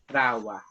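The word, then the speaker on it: rāua: Yes, you can say me, or if you're usually with people, you use rawa, R-A-U-A, rawa, Oh, right.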